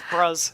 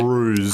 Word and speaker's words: Bruz: It's pronounced as like, Bruce. I'm Bruce. Yeah, but it sounds Oh, like that makes Bruce sense. because he has an Aussie, Yeah. Aussie accent. Sounds like Bruce.